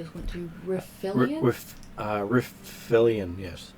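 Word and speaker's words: Riflian: refill it with uh refillion yes I can't really pronounce it the way it's spelled r r i uh r-i-f-l-i-a-n riffley and woods uh rifflion uh okay so is there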